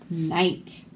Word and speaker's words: knight: K is for knight. The noble knight's knife nicked the knave's knee. So look at all those KN words. We don't say the K is silent. KN just makes the N sound.